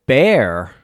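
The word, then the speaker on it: Bexar: uh City San Antonio bear it's pronounced Bear County uh this is the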